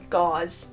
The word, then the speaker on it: Gause: Williams, Hyram Smith, Joseph Smith, Senior, and John Smith was Jesse Gau. Rhymes with house. No, it doesn't. It rhymes with laws.